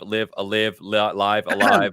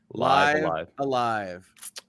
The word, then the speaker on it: Live A Live: we have Live Alive, Live Alive. We're going to figure that out as well. Alive is how the Nintendo Direct pronounces it. I went and looked before this episode. Live Alive.